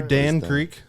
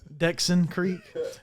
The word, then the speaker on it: Dxn Creq: Are you Dan Creq? Nah. Right. Dexon Creek.